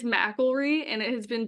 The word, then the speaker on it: McIlree: I don't butcher it yeah it's um it's mry and it has been butchered many times um actually literally when I